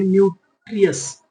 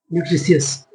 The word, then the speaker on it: nutritious: ऐसे पढ़ना सीख लेते हैं, न्यूट्रियस, न्यूट्रिशियस, न्यूट्रिशियस, न्यूट्रिशियस। चलिए, न्यूट्रिशियस, न्यूट्रिशियस, it make us strong and healthy.